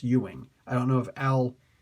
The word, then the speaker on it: Ewing: It's pronounced Ewing.